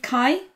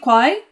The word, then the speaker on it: Kwai: So I just wanted to say a massive thank you to Steve Kai. What the? He even explained to you how to say his name. I knew how. Okay. Anyway, Steve Kwai, right? Yes.